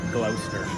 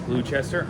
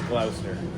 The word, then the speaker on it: Gloucester: know how to pronounce Gloucester. I think a lot of people would guess Gloucester. I'm 90% sure it's Gloucester.